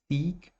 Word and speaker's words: seek: A primeira, então, é procurar, buscar, seek, e a segunda é sick, ok?